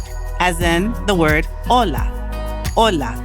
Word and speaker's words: hola: Ola. The H is silent.